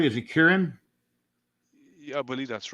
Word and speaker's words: Kieran: ended and Shane plug your screen thanks Shane Kieran Clark am I pronouncing that right is it Kieran yeah I believe that's right yeah thanks k